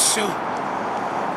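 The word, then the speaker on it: Sioux: your tribe my name is uh my Sue how do you spell that s-i-o-u-x soon and originally from which part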